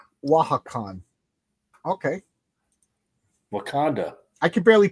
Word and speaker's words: Wakanda: I stopped now that's why I lost it's pronounced wakan okay wakanda I can barely pronounce English okay how about